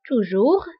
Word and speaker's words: toujours: وانتبهوا بالنسبة لتوجور وجامي فكنكتبوهم بأس آخر الكلمة ولكنها لا تنطق. toujours jamais.